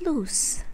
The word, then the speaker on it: loose: Now let's talk about loose, L-O-O-S-E, that is loose. The pronunciation spelling L-U-S, loose.